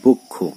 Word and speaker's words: বক্ষ: যেমন বক্ষ, এখানে যুক্ত ব্যঞ্জন রয়েছে ক এবং স মূর্ধন্য স, তো এর উচ্চারণ কিন্তু শেষের যে অ রয়েছে এর উচ্চারণ ওয়ের মতো হয়ে যাচ্ছে।